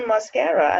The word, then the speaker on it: Mosquera: I have with me Mosquera. Is that the correct pronunciation? Yes, it is. Beautiful, Mosquera.